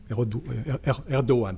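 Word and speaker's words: Erdoğan: En Hongrie, on peut parler Arap Moi au Kenya, on peut parler Erdogan plutôt, c'est la bonne prononciation en Turquie.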